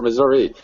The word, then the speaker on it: Missouri: people say like Missouri they say Missour or Missouri I mean how do you say certain things in Missouri Missour depends on where you're at if you live in in the city it's Missouri if you live in